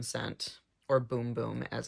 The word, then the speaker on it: Bum Bum: six 2 which is the Original Scent the bum bum scent or boom boom as it's pronounced as well as a little mini of